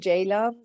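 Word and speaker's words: Ceylan: I'm Jaylan. C is pronounced as J.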